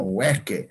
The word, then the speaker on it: hueque: Entonces, en el quechua ya no existe la QUE, sino es directo. Sin la U. Hueque.